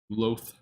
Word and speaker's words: Duluth: Duluth.